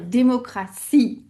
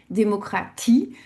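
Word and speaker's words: Demokratie: Alors soit on va dire démocratie comme en français avec le son pour le t, soit on va garder le son t, démocratie.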